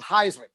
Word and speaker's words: Heisman: They started pronouncing it Thiesman in college because his college coach was like, Thiesman rhymes with Heisman.